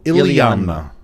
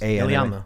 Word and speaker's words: Iliamna: The little town is called Iliamna, Iliamna, Alaska. How do you spell it? ILI. It was there it is. Iliamna.